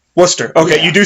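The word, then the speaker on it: Wooster: W okay it's wo o st ER o Worcester Worcester okay you do say it right yeah yes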